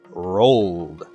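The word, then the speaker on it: rolled: The notes say that the "L" sound is voiced. Let's do the hand test and say the word one more time. Roll. It is voiced! This means that the correct pronunciation is "rold."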